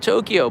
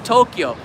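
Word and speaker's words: 東京: It's a symbol of the city of Tokyo, built in an era when the name Edo changed to the name that we know today, Tokyo.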